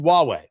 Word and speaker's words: Huawei: from Huawei, which is spelled H U A Wii, pronounced Huawei.